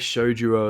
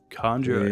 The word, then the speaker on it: Kanjuro: It's like Shojuro or something. Oh fuck! Sanjuro. Conjuro? Is that how you say it? Kanjuro.